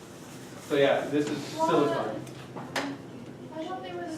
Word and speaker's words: silicon: Is it pronounced silicon or This one is silicon. So silicone actually has an E at the end, and that's the stuff that you get in a tube. So yeah, this is silicon.